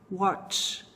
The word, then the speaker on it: watch: Toda vez que você vê esse T, C e H juntos, você tem que pronunciar dessa forma, assim, com bastante vontade mesmo, tá?